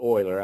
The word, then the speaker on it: Euler: call euler diagrams and that word is is actually euler i don't think anybody that's never seen that have studied math or know who this person is probably don't doesn't pronounce it but it's euler these euler diagrams help